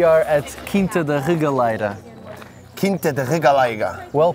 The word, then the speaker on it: Quinta da Regaleira: Quinta da Regaleira. Well pronounced, by the way.